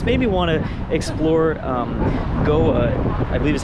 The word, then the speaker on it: Goa: This made me want to explore Goa, I believe is how you pronounce it, in India.